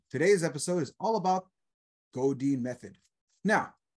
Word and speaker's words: Godin: episode is all about go Dean method now did I say that right godine or is it Godin goodin good in okay good I said it right so David let's just